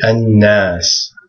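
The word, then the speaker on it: الناس: This would be an-nas. An-nas. Remember the lam is not pronounced. So this would just be pronounced an-nas.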